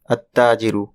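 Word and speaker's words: التاجر: এখানে উদাহরণ দেওয়া আছে আততাজিরু দা মার্চেন্ট অর্থাৎ তাজিরুন এর আগে আল বসলে আল এর লাম উচ্চারিত হবে না।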